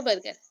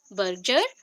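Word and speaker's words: Berger: तो यहाँ पे एक्चुअली जब प्रोनाउंसिएशन होता है, बर्जर भी बोल सकते हैं, बर्जर, बट हम लोग कॉमेडी करके थोड़ा याद रखते हैं, तो बर्गर।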